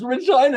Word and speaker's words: Regina: place you might want to visit it it's Regina it rhym fun they actually shared it people